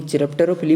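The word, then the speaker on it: chiropterophily: तो आपको पता है चमगादड़ द्वारा जो परागण होता है उसको बोलते हैं काइरप्टेरोफिली। स्पेलिंग लिख लीजिए, काइरप्टेरोफिली, काइरप्टेरोफिली। हिंदी में चिरप्टेरोफिली बोल दो, कुछ भी बोल दो, पर स्पेलिंग ये होती है।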